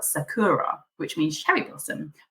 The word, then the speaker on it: Sakura: in English is spelled Sakura which means cherry blossom but Japanese pronounce their RS as L's so actually the real pronunciation is sakula so I guess my